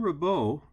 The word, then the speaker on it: Ribault: Now, Jean Ribault, remember in French the T is silent, was basically a soldier of fortune.